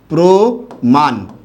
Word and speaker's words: প্রমাণ: না থাকে তবে তবে সেই র ফলা যুক্ত বর্ণের সাথে একটা ও কার হবে যেমন দেখুন আমি একটা শব্দ লিখলাম এরকম প্রমাণ এই যে শব্দটা যে